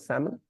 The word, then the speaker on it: salmon: Which letter is silent? L is silent.